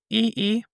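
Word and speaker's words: Yi Yi: Also, how do you pronounce that one that you were just talking about? E-E.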